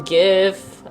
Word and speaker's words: GIF: on here jiff doesn't jif sound easier when i